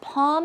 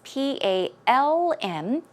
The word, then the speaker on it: palm: is an L it's P a LM as you can see yes it is not pronounced with an L it is just P a hm a long aw sound palm palm there's no L one